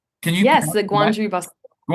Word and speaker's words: Gwangju: Yes, the Gwangju Busking Gwangju Gwangju Busking World Cup, yep. Yep, it took me a few tries too. Yeah. Yeah, so fun. The Gwangju Busking World Cup in South Korea, yeah, in